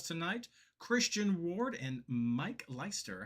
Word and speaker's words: Leister: So I'm a little bit familiar with the the EI arrangement there in the name, but I appreciate the the consideration.